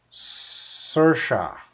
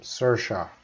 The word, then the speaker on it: Saoirse: All right, so it is pronounced Saoirse. That's how you pronounce her name, Saoirse. That's how she said, Saoirse.